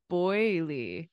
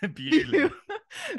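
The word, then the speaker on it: Beaulieu: 0-2, Boyley. No. Bewley.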